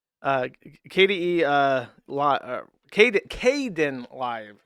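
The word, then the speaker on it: Kdenlive: Uh KDE uh li Kad Kaden live is how you pronounce it.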